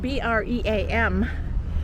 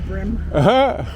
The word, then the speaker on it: bream: I think it's spelled B-R-E-A-M. And I think we're supposed to pronounce it bream, but everybody's like, this is brim.